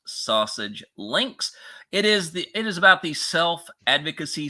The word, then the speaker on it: SASG Links: Yes, the name is pronounced Sausage Links.